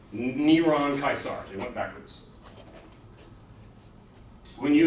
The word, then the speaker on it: Caesar: it I close enough Caesar would be pronounced kaisar kaisar yeah but is